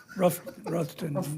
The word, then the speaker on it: Rutherfordton: And it was, you would say Rutherfordton, North Carolina. I would say that. But they pronounce it like Ruffton or something. Ruffton, North Carolina.